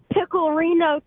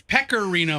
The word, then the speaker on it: pecorino: uncle I saw that Reno cheese no it's pecorino Hadley say it right so Hadley pecorino pecorino